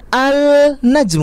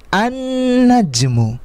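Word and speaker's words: النجم: tetapi justru lemnya ini tidak kita baca karena langsung dimasukkan ke the huruf pertama dari kalimat tersebut najmun Huruf pertamanya apa Nun maka kita langsung tasydid dan disini an najmu contoh lain rojulun ketika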